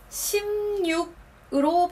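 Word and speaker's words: 십육: 6 앞에 자음이 와서 니은이 첨가되는 세즈이 경우 16이 아니고 16으로 발음합니다 16 기억하세요 세 자리네 자리 수도 똑같이 읽으시면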